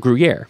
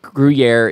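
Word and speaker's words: Gruyères: but the town of guer has an S at the end it's pronounced the same cuz French dropped those last letters um but guier is this just beautiful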